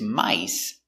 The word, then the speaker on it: mice: I, my, s, mice. One mouse, two, three, four, five, mice.